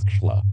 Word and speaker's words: Tesla: that there still is a Nikola Tesla, pronounced Tschla, who long ago gave